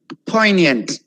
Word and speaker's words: poignant: don't leave too many poignant poignant i'm not emphasizing on g at all right poignant means